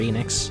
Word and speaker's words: Enix: Enix um or Enix I usually say Square Enix but I've heard other people like lean more towards the actual pronunciation is NX and I hate that